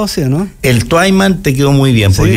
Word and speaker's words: Twyman: ¿Está bien pronunciado así, no? El Twyman te quedó muy bien, ¿sí?